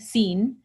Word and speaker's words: sin: in Spanish the word spelled the same way seen mm-hmm is how it's pronounced but si n it means without and